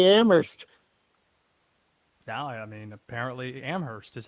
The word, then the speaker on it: Amherst: I like his message, and, you know, you pronounce Worcester very well. You know how to say Amherst. Now, I mean, apparently Amherst is how you say it.